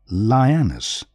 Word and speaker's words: lioness: phase of the journey lioness to be pronounced as lie and ness the last syllable receives the primary stress if feasible and useful